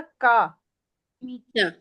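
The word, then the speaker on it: camicia: तो का मीचा कमीचा ये देखिए ये ची इ आ जाए तो वो फिर च बन जाता है ना क्योंकि ये ची ई है ठीक है लेकिन आगे साथ ही आ गया तो कमीचा ठीक है ठीक है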